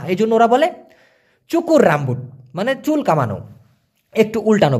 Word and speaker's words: rambut: যেমন আমি যদি উদাহরণ দেই, ধরেন মালয়েশিয়ান ভাষায় রামবুট, RAMBUT উচ্চারণ হবে রামবুত, কারণ টিটাকে, এই টি ওরা উচ্চারণ করে তয়ের মতো।